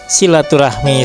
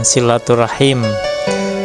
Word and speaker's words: silaturahim: Silaturahmi sebetulnya harus diucapkan silaturahim.